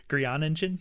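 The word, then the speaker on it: Groeningen: Okay, so Beautiful Boy, directed by Felix von Grioningen. Perfect. You nailed it. Yeah. Grianingen? That's funny. I would have never thought to pronounce sounding it out.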